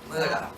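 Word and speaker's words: Mutter: Muda. She was my Muda. That's how you pronounce mother in German.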